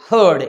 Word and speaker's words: herd: Both the words are being pronounced in the same way, हर्ड।